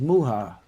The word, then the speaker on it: Muha: note for the cast the dr's name is pronounced muha not M Mah oh muha M sorry or I